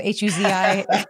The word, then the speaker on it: Huzi: Who's, I don't know how to pronounce it. H-U-Z-I.